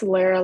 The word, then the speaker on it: Lara: And so Lara, is that how I pronounce it? It's Lara, like rhymes with Tara. Lara, cool.